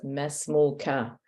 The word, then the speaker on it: ما اسمك: Yes, there was a kasra here, whereas before it was mesmuka. Now, in case you noticed, the narrator did not even pronounce the kaf. He didn't pronounce the vowel on the kaf. He said mesmuk.